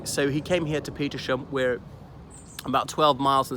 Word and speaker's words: Petersham: The other thing is, usually these HAM endings in British place names, the H is silent, as in Birmingham, Fulham, Balham, and there's so many more. But Petersham, we possibly bastardized it to Petersham rather than Petersham.